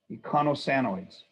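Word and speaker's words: eicosanoids: phospholipids, steroids, and and echino or they pronounce it two ways. Econo or icono sanoids. Econosanoids.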